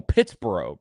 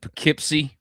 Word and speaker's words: Pittsboro: Hey, look, you need to put some respect on Pittsboro, bro. It's true. I I butchered the name. I've said Pikipsy. I've said Pittsburgh. I mean, it's been all over the place, man.